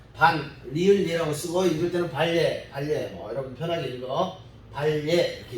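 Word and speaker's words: 반례: 발음이 좀 어렵긴 한데요. 반대되는 예다. 그래서 한글로는 리을 예라고 쓰고 읽을 때는 발예, 여러분 편하게 읽어.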